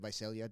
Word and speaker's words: Visalia: But coming from a small school out of, is it Visalia? Am I saying it right? Visalia.